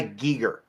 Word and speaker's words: Giger: Giger.